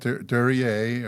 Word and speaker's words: Duryea: All right, so we got Duryea, or is that the correct pronunciation? Yeah, that's right. It's a French word.